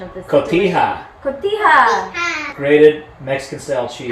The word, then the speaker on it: cotija: John, help me with your cotija. Sorry, Senor Scolnare is not good. Help you with what? Correct pronunciation of this. Cotija.